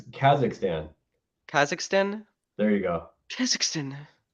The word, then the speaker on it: Kazakhstan: You don't even know how to say it right. It's Kazakhstan.